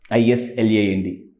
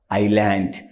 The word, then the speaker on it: island: s e yeah foreign how do you pronounce this one i s l a n d I land maintenance people pronounce Islam that's wrong it is Island so we must